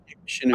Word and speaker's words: Chenoo: And that's why I really like what you're doing with this Chenoo. Is it Chenoo? Am I saying it right? You're saying it right. Chenoo.